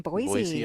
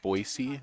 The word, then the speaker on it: Boise: know that you uh boisey is how it's pronounced not Boise that's how they'll tell you're not from boisey as if you say Boise okay I I learned